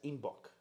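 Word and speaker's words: Einbeck: Due to their Bavarian accent, citizens of Munich pronounce Inbeck as Inbock, a billy goat.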